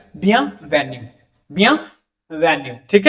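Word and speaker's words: bienvenue: अब आई इ एन है वो नोजल साउंड हो जाता है और फाइनल ई जो है वो साइलेंट हो जाता है। ठीक है? क्योंकि इ तो एंड में ऐसे भी म्यूट हो जाएगा।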